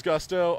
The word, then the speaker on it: Gusto: I've heard it's Gusto. How many times have you heard your name pronounced incorrectly? It is Gusto. I have heard it pronounced incorrectly about 95% of the time. Even when guys know that it's Gusto, it's still Gusto.